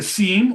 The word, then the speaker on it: SIEM: A SIEM or a SIM, depending on how you pronounce it, a security information and